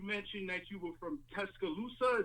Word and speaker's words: Tuscaloosa: You mentioned that you were from Tuscaloosa. Is that how we say that? Yeah, you saying it right, Tuscaloosa?